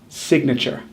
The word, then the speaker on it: signature: We say nature, so we should say signature, right? Instead of the long A sound in nature, we actually